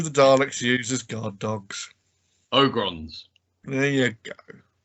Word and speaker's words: Ogron: sean what do the daleks uses guard dogs ogrons there you go it's pronounced ogrins and they're in 40k doctor who stole it